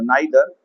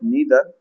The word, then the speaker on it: neither: एंड इफ आई say about this next word नाइदर यह भी सही है और नीदर यह भी सही है।